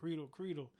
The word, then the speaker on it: Credle: far as like how it's supposed to be pronounced. So originally, my first 18 years of my life, my parents kept saying, "Oh, Credle."